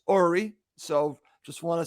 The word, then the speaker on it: Uri: bye okay that was Yuri Ori and I did a Goldman there I said his name wrong Jackie as uh I say goodbye to him it's actually pronounced Ori so just want to